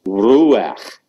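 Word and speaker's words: רוח: Ruach. We had that before, pronouncing it as a single syllable. Remember, it's a pathak furtive under the guttural at the end.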